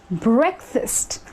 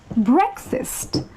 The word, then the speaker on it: breakfast: Again, the A in break and the A in fast need not get so much importance in this case. They have to be pronounced very subtly.